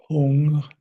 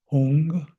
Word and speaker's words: hung: a Tibetan sacred syllable hung I like to visualize it is h o o n g hung and this is is